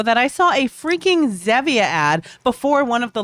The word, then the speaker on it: Zevia: It's like Zevia. Is it Zevia? Well, it is Zaba. probably, I think it is, honestly, it probably is Zevia because it's based on stevia, the artificial sweetener.